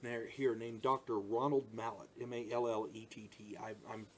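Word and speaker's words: Mallett: Ronald Mallet, M-A-L-L-E-T-T. I think you pronounce it Mallet, but don't quote me.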